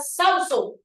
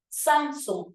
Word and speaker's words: Samsung: usted va a decir qué tipo de palabra es Samsung porque no es Samsung es Samsung profe es una palabra grave y como termina en